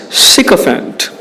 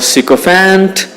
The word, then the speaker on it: sycophant: Sycophant. Neither sycophant nor sycophant, but sycophant.